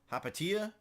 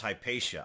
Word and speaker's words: Hypatia: hop tesha hop Tia Hypatia recruit I think it's pronounced Hypatia I think it's Hypatia yeah I think it's Hypatia's pronunciation okay and we get plus